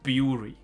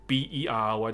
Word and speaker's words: bury: 它不应该念成 furry 的，对吧？但是还有一个词。这个怎么念？bury，如果前面的 fury 是 fury 的话，这里是不是就应该念成 bury？偏偏不是，它念成 berry。绝大部分的时候我都听到它念成 berry 的发音，berry。不要问我为什么，OK，反正就是英文讨厌的地方。来，所以我们再看下去，扯远了，对不起。所以他的老婆 furious，怒气啊，形容词，他们结了婚。来先读一下，I am emotionally exhausted and just don't know what to do.